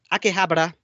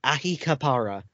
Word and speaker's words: Akihabara: continue on uh pronunciation it is akihabara not ahikapara which is very hard to